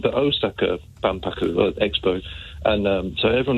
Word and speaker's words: Osaka: Because we Brits say Osaka. I know I do, but it's yeah, Osaka. Yeah, Big O. Right. Okay. That's the way it's done.